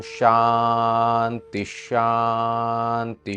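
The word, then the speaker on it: शान्तिश्: समय जब शांति शांति जब एक साथ शांति पढ़ेंगे तो शांति शांति नहीं पढ़ेंगे विसर्ग और श मिलकर श हो जाता है। तो इस तरीके से पढ़ेंगे शांतिश शांति शांति।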